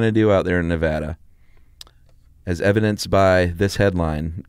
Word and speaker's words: Nevada: You never know what they're going to do out there in Nevada.